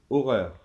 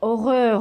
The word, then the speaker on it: horreur: différence parce que regarde si tu dis horreur et on peut pas lire horreur re re re non non non non non non non c'est juste horreur et on continue troisièmement